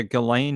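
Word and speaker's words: Ghislaine: Yeah, Galain Maxwell is how you say your name.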